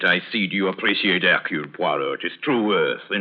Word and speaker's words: Poirot: My name is Puo.